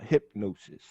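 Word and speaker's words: Hipgnosis: white fronted blackface group called hypnosis it's spelled hip g-n-o-s-i-s so they telling you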